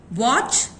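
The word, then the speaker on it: watch: Okay, वॉच, मैच, लिजन। सो T sound स्ट होता है मगर टी की साउंड कहीं पे भी सुनाई नहीं पड़ती।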